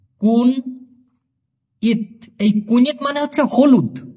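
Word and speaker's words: kunyit: এখানে ভাঙ্গায় দেই আমি কে ইউ এন কুন ওয়াই আই টি উচ্চারণ হবে কুন ইত এই কুনিত মানে হচ্ছে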